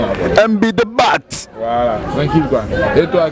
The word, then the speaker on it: Dabat: Faut prononcer le T comme chez les Allemands là. MB Dabat.